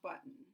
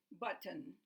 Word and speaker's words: button: The TTON represents glottal stop.